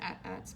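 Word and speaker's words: AT-AT: assets I looked it up supposed to be pronounced ads but I like saying eighty eighty s that's just that's just me but tomato tomahto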